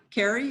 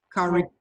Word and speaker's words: Kari: And then Carrie, is it how you pronounce it? Kari.